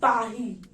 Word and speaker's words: Paris: is paris okay so in french we pronounce paris as pahi the third point is